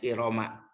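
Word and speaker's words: إرم: Waman usor pilil alamiyati wa ta'nisi, dan dicegahnya tanwin karena alamiah dan muannas, dibacanya Iroma.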